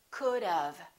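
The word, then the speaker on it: could've: it sounds like this could of it sounds like this think about dove which is a bird the bird dove and say dove could have could have let's practice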